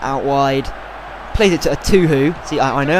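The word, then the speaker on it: Etuhu: Zamora playing it out wide, plays it to a Tuhu. See, I know how to pronounce it now. Thank you guys, a Tuhu.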